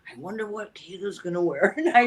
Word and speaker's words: Kato: So, with my name, Kato is my evolved American name. The actual pronunciation is Kato.